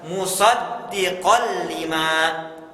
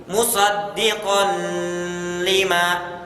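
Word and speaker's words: مصدقا لما: Nah, maka cara bacanya adalah musaddiqal lima. Diidghamkan, dimasukkan ke huruf lam tetapi tanpa gunnah. Jadi tidak kita baca seperti ya bacaan yang salah seperti ini. Musaddiqan lima.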